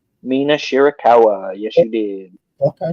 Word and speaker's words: Mina Shirakawa: Tony Storm versus Mia Shirakawa. Did I say her name right? Mina Shirakawa.